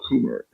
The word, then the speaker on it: Kummer: Well, we We got also a number of people joining us, and Michael Kummer. Is that how you pronounce it, Michael? That's how I pronounce it, yes.